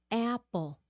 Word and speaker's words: apple: start with a a very very important vowel that Vietnamese often pronounce wrong apple apple A is for apple um foreign like